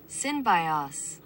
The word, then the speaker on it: Synbios: So it's pronounced Synbios.